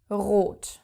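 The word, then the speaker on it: rot: color red which is RO now the word is starting with the R so of course you have to pronounce it Ro also after another consonant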